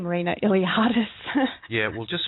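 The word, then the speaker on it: Iliades: Oh, I think it's just my name, Marina Iliadis. Yeah, we'll just spell that for you.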